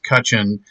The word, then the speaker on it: Cutchin: I was just also informed that Brax Cutchin, I mispronounced his name last time, uh, Wait so a now minute. we're there. There's no S and or Z on the end of that, so sorry, buddy.